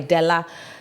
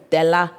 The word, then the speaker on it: Della: I knew my parents would say my name and say my name the right way, Della.